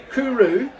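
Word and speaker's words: cwrw: continue I'll continue reading it says pronounced Kuru meaning beer in Welsh is an international Award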